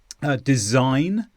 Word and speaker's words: design: Design, there's no G sound there. It's just N.